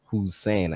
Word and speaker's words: WhoSane: out as a hussein right it's you know who's saying i used to spell it or write it out as like a